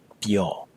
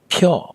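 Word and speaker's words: ပြော: The verb to speak or to say something is pyo. It's not pure, so be careful of the pronunciation.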